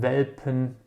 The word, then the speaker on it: Welpen: And Welpen are simply little puppies.